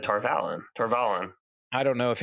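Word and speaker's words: Tar Valon: Like Aram says Tarvalon weird. Tarvalon. Yeah, well, and to be fair, I think you and I have talked about this once a long time ago. I think that is technically the author endorsed pronunciation, as frustrating as that is.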